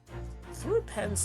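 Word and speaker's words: threepence: Then throw pence does isn't much money. Only enough for a few measly hours of gas in Mr. Garid's delightful lodgings. Perfect. Thropants. Thropants. That's how you say it.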